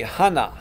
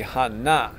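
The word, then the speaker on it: 하나: Korean friends corrected me would say Hana and it's actually Hana Hana okay so Hana tool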